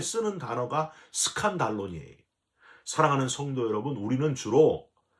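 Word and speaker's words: σκάνδαλον: 저와 여러분들이 됐으면 좋겠습니다 실족하게 하는이란 단어는 헬라어로 스칸달론이라고 발음을 해요 여러분 스캔들이라는 말 있잖아요 영어에 스캔들이 스캔들이 바로 스칸달론 온 말이에요 원래이 스칸 달로는 짐승을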